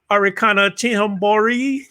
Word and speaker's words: Arikana Chihomboro: very strong one thank you so much ambassador arikana chinhambori am i saying it right am i saying